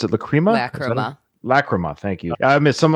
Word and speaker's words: Lachryma: I don't know how to pronounce it. Lachryma? Lachryma, thank you.